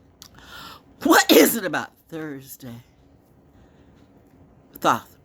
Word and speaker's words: Thoth: Thoth, by the way. Thoth. Not though. Thoth. People be intelligent, but I mean, you know what?